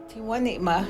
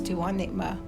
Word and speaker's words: Tewanima: Tewanima, that's how you would pronounce his name, Louis Tewanima.